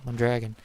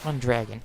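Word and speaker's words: Mondragón: oh or let me let me pronounce it better the mandran I think it's I think mogen mon Dragon it's not M Dragon it's like one drogen or something cuz it's a it's a Mexican word Mexican designer but that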